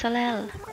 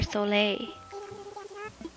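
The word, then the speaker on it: Soleil: forgot about this hamster it's salel or solei i think it's french so it'll be so late you won't pronounce the last cell she's cute island number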